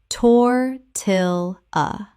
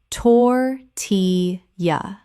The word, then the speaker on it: tortilla: manga manga Word 203 tortilla Common mispronunciation tor-til-a Correct pronunciation tor-ti-ya Three syllables with the L L making a Y sound as in Spanish.